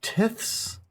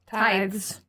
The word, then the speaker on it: tithes: And this would allow them to receive I think it's pronounced tiths. Tithes.